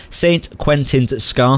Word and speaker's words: St Quentin Scar: I still can't get my mouth around that Saint Quentin's scar that's how you say it that's what we